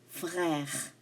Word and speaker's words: frère: This is un frère. Stress at the R. Oui, j'ai un frère. Non, je n'ai pas de frère. Again, at the R.